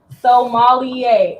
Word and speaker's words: sommelier: Sommelier. Okay, yes, sommelier. Okay. I was trying to pronounce it too much.